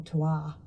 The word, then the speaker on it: terroir: or varietals, I don't They talk about terroir, or terwa if you're going to say it properly, which is like what